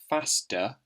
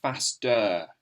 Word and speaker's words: faster: listen to that sound when you say it faster you don't really hear faster it's not a really clear sound on the end it's more of an O sound that schwa sound we've been talking about faster smooth the teacher